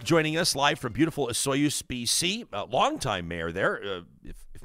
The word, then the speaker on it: Osoyoos: to tell you that you're pronouncing Osoyoos wrong. Oh. So that's my first lesson. And the easy way to remember is the mayor's name is Sue. So you say Osoyoos. Osoyoos.